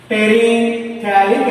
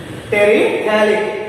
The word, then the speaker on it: terephthalic: वजह से terephthalic acid terephthalic pH is silent mark terephthalic acid so it